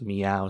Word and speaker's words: Meovv: That is, of course, Meow, spelled with two V's, My Eyes Wide Open, two V's.